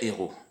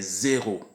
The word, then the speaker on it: héros: On dit un héros et des héros. On entend de temps en temps des zéros. Non, ce n'est pas des zéros, c'est des héros.